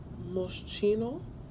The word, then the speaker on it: Moschino: This is Moschino. That's how you pronounce it.